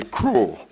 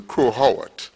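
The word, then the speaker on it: Crowe Horwath: In order to save you all the stress, we just say crow. Okay? Because sometimes the tongue have a way of slipping. So, but for the record, this is actually Crow Howard. Right? And in every region you go worldwide, everybody have different pronunciations, so we try to clarify it so we know say crow.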